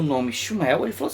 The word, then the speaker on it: Shmuel: Sim, pronuncia-se Shmuel.